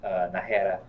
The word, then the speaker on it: Nahara: Augie said we said the name right, pronounced Nahara correctly. Great job. I know, I could roll my R's.